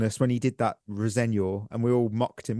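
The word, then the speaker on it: Rosenior: On a human level, we'll hate Clear Lake if they appoint Rosignol and potentially ruin early a promising career. Oh. Apparently, that is how you say his name.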